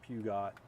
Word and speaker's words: Peugeot: Peugeot or Pugot. Pugot. But Peugeot, like Peugeot, I think is how the French actually pronounce that.